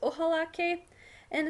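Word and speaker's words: ojalá: a little bit this ohal and it's kind of like this God willing um I hope idea so it's always going to use the word ohala with an accent on the second a so I hope that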